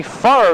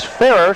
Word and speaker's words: Farr: Now we've been informed that the correct pronunciation is Farrer, so we'll use that throughout the game.